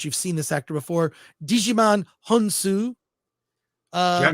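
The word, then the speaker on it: Djimon Hounsou: his name but you've seen this actor before Digiman honu uh J hansu yeah jiman g excuse me jiman hansu uh by Duna plays a character named nemesis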